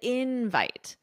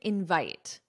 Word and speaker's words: invite: my pronunciation, invite, the invite. And listen to this one, I didn't invite. Invite. So with verbs, the syllable stress is on the second syllable, invite.